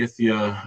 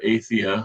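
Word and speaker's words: Aythya: There's a lot of similarities in this whole group of birds, the Aethia or Aethia, a couple different pronunciations there.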